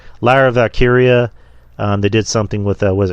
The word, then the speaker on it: Lyra Valkyria: because they had a nice little segment with her, and was it Tara Valkyria? Is that her name? Lyra Valkyria? Lyra. Jesus Christ, I got her name wrong. Lyra Valkyria.